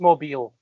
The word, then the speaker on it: Mobile: It's It's pronounced Mobile.